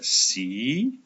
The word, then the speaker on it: sie: Ini dibaca sie.